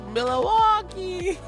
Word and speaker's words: Milwaukee: It's Milwaukee.